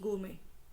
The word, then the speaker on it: gourmet: है, इसमें मेट है, बट मेट को बोलते नहीं है, इट हैज़ टू be pronounce गोमे.